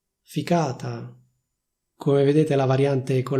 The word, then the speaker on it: ficata: Ovviamente anche in questo caso esiste una variante con il suono c, quindi con la lettera c, che ficata, ficata.